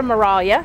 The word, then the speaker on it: Maraglia: We're here with Sarah Maraglia. Sarah, did I get it right? You got it right, yes. The G is silent.